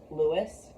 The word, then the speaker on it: Louis: I mean, there's the protagonist, Lewis. Maybe his name is pronounced Louis, but I'm gonna call him Lewis.